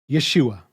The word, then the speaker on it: Yeshua: result is the same the messiah's name is pronounced Yeshua which means not yah is salvation but he is salvation as evidenced Again by Matthew 1 21 you will call his name Yeshua for he will save his people from their